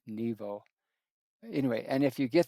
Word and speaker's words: Nebo: aka Mount Nebo, or with the English and the Christians, it's Mount Nebo, but with an uh, the Jewish they pronounce it in Hebrew with a V, Nebo.